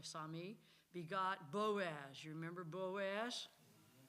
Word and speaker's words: Salmon: I know it's spelled like Salmon, but it's really Sami.